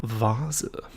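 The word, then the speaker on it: Vase: this word in German vaza vaza FAA FAA in English people say V and V and I don't know VA Vasa let's check that actually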